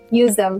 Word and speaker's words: useDEM: useDEM. It's like the brand name, the pronunciation. It came from the useDEM, but at the end it's just don't throw away, useDEM.